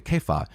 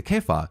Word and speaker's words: Cephas: or I belong to kefa I know it's c-e-p-h-a-s which is cephas right but Kefi I think is the one acceptable pronunciation of the name of Peter or I belong to